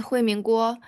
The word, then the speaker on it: Huiming Guo: Yeah, You can sorry tell, for was I even close pronouncing your name? uh yeah, it's close. My name is Huimin Guo.